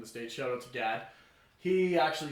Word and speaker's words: God: Shout out to Gad. He actually said... It's actually spelled G-O-D, but he pronounces it Gad, because he's from Michigan. Right.